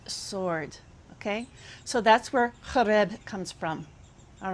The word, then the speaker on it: Horeb: And Horeb, or excuse me, Mount Horeb, okay, which I pronounce Horeb in my reconstructed Paleo Hebrew, but it means something.